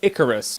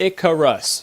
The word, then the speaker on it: Icarus: Ocarina of Time Kid Icarus and if you've ever wondered if it's pronounced kitikaris or Kid Icarus it's Icarus Icarus thus saith the dictionary and now you know